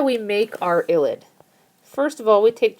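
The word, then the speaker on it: ylide: here and the name of this is an illid so y l i d e and it's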